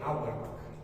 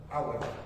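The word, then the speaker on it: Auerbach: Entonces, este otro será el plexo motor de Hourback. Hurback se escribe Hback, sí, pero es plexo motor también tiene otro nombre, se llama plexo mientérico.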